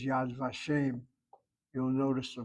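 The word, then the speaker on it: Yad Vashem: And it's not unusual for the vav letter as I think I told you a number of times when the vav letter is affixed to a word that the accent is on the first syllable as in the phrase yad vashim.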